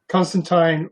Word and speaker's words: Constantine: the swamp thing where he said constantine rhymes with clementine oh doesn't he okay